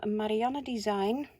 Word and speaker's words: Marianne Design: They're brand new, and they're from Marianne Design. Dutch lady, that's why I pronounce it in the Dutch way.